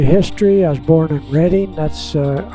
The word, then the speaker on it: Reading: I was born in Reading. That's uh re a d i n g. We pronounce it Reading and uh a little hospital there is that's where we're starting off from Reading.